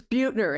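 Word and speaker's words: Buettner: Um, and by the way, you and your colleague Russ pronounce Russ's last name. It's Bututner, and he's an awesome guy.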